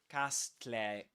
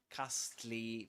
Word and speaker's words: castle: So, the problem with this word is that the S is silent and the E at the end as well, right? We don't say castle. Castle. Castly, we say castle. Castle. In southern standard British English, we say castle. So, we don't pronounce this letter and we don't pronounce the final e.